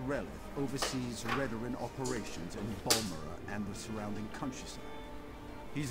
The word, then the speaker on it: Balmora: Because obviously I was calling it Balmora earlier, but it's apparently Balmora. Or, however he said it.